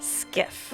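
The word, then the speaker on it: SCIF: I don't know why I kept calling it SHIF. It's actually pronounced skiff.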